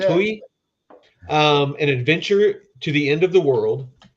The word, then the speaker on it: Itui: Itui, An Adventure to the End of the World.